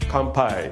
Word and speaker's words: kampai: Kanpai.